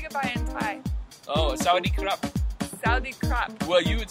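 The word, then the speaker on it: สวัสดีครับ: Oh, Sawadee Krap. Sawadee Krap. Well, you would say Sawadee Ka.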